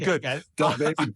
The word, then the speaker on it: DaBaby: Is that how you say it, DaBaby? I think I said it right. DaBaby, yeah. All right, good. DaBaby, D-Baby.